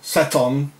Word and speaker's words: Satan: And it was indeed Seth, or Sethon, Seton, Satan, or Satan, or the devil himself. In most European countries, it's being pronounced as Satan, Set-on, you know.